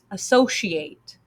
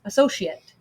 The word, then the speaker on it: associate: uh so she ate associate the verb form and for the noun and adjective it's uh so she UT associate so there's two different ways to pronounce it depending on how you're using it if you are hanging